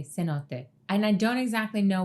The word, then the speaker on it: cenote: I tend to say things with the Spanish pronunciation because my mother's side is Cuban. She says cenotto and then cenote in her talking head. So, I'm just gonna say cenote.